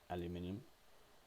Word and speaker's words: aluminium: a nice red, anodized red aluminium, or it's not in, there you go, or as you Americans say, aluminum.